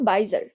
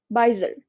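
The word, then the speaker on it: bizarre: plus রিস্টার আচ্ছা তো বিজারি এটার উচ্চারণ আসলে বাইজার বাইজার ইংরেজিরা দেখবা এটা এজেক্টিভ ফর্মে বাইজার উচ্চারণ করে বাইজার পঙ্গুবা একটু যারা এবনরমাল এরকম বাচ্চাকাচ্চাদের বা মানুষদের বাইজার বলা হয়তো এটা হচ্ছে ওরা বাইজারড বলেটা উচ্চারণ বাইজার তো এটা আবার আমেরিকান ব্রিটিশের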